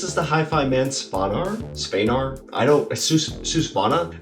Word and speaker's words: Svanar: Susvana? It's spelled Spanar, but they actually call it a Susvana.